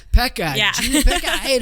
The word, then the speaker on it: Pecha: Pecha. Pecha.